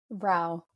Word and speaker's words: Rao: how do you say your last name Vin Ral Ral okay nice to have you on the